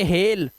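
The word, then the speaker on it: hail: देखो बाइल नहीं पढ़ेंगे इसे बाइल बेल फाइल नहीं पढ़ेंगे फेल हाईल नहीं पढ़ेंगे हेल और माइल नहीं पढ़ते इसे बोलते हैं ईमेल जैसा मेल ईमेल मेल देख रहे हो आप ये रूल्स हैं।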